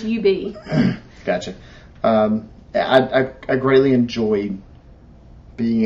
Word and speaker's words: Ub: It's UB.